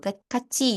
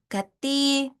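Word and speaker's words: 같이: sori nemu kata ini bacanya bukan gati kati tapi kaci gitu ya, ada c-nya gitu karena dia tuh yang awalnya bunyinya ti jadi berubah jadi cheat ya.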